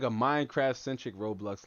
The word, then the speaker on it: Roblox: he says Thunder says it's row row blocks not roadblocks so I can't pronounce it I can't enunciate the O Like A U it's Roblox all right well that's